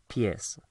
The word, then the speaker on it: pies: Pies spelled pies, but obviously not pronounced like that. Pies, los pies, the feet.